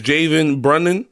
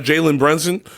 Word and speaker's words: Jalen Brunson: he gonna pronounce, like, his name is Javen Brunnan. Yeah. To me, it's not Jalen Brunson. It's Javen Brunnan.